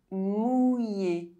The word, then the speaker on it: mouillé: OUILL is pronounced OUI. Grenouille. Mouillé.